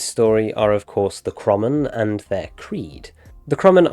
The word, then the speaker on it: Kromon: the Creed of the Kromon, which is actually pronounced Kromon, which doesn't sit right with me at all.